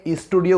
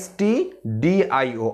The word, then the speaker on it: stdio: দেখো, তাহলে include stdio, অনেকে আমরা এটাকে স্টুডিও উচ্চারণ করি, এটা কিন্তু ভুল উচ্চারণ, এটা স্টুডিও না, এটা হচ্ছে stdio, অর্থাৎ stdতে হচ্ছে স্ট্যান্ডার্ড এবং আইতে হচ্ছে ইনপুট আর ওতে হচ্ছে আউটপুট।